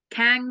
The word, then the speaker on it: Kang: this was like actually King himself not just a variant of okay okay you're mispronouncing his name what is it Kang the Conqueror it's true okay the